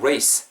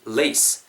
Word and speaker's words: lace: 요놈만 쓸 수 있죠 I'm not saying race I mean lace race고 발음 하지마시고 L